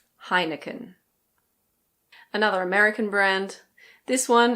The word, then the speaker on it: Heineken: I believe we pronounce it pretty similarly to the Dutch. In English we say Heineken. Heineken.